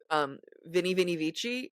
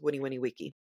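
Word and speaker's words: veni, vidi, vici: Oh, I also remember Vini Vini Vici would actually be pronounced Winnie Winnie Wiki.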